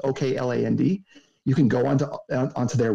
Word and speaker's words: Okland: Specifically Oakland Construction, or Auckland, I don't know how to say it, it's Okland.